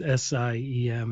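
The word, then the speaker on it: SIEM: So you you use the phrase SIM. So that means security, information, and event management, right? It's sim. It's pronounced SIM, like a SIM card in a phone.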